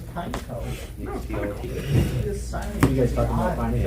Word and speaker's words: Pineco: No, it's Pineco. You guys talking about finding out? Yeah. Just attack with my Pineco. The official pronunciation is Pineco.